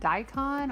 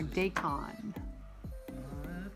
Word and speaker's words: daikon: Is it daikon or daikon? I've always pronounced it daikon. Daikon. That doesn't mean I could be wrong. It's a Japanese word.